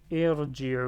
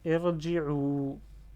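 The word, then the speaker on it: ارجعوا: Pareil ici, irji'u, on prononce la même chose. Irji'u, et le elif à la fin, avec le petit rond, on ne le prononce pas.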